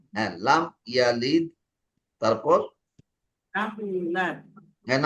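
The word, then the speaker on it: يُولَد: ইউলাদ, যদি আমি ইউলাদ পড়ি তাহলে তো ওয়াটা বাদ পড়ে গেল।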